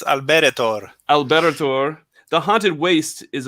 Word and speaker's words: Alberetor: simbrim see i knew i was going to mispronounce this yes please do it's alberto alberto the haunted waste is available uh it